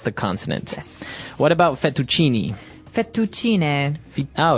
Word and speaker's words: fettuccine: fettuccine Alfredo is a very common American Italian dish, but Right. in Italian it'd be fettuccine, so you might hear it differently.